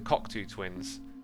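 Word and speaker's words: Cocteau Twins: That's how they say it, actually, the Cockatoo Twins.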